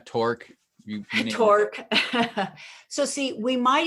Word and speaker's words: Torok: would punch, Torok, because I bet people call you Torok or all kinds of different pronunciations, right? Right, yeah, Torque.